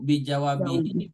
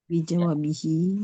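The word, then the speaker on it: بجوابه: Jadi bi dengan jawab ya cara bacanya Bu, bi jawabihi, bi jawabahu atau bi bi jawab jawab bi Bijawabihi. Bijawabihi karena ada bi ya huruf jer ya.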